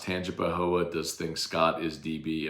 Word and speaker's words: Tangipahoa: no punctuation he puts it's pronounced Tangipahoa does think Scott is